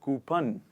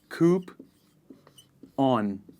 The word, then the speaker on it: coupon: it is called coupon it is not coupon a lot of people say that it is coop on please repeat after me coupon next one in